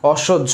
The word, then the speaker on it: অসহ্য: দেখো, অ আছে দিলাম, দ্বন্দ্বস আছে তালব্য হয়ে যাবে, পরবর্তী বর্ণে জফালা আছে কারণে কি হবে, ওকার হবে, এবং এখানে বর্গীয় জ হবে, বর্গীয় জ হবে এবং ঝয় আকার হবে। এই হচ্ছে অসহ্য, এই হচ্ছে অসহ্য, অসহ্য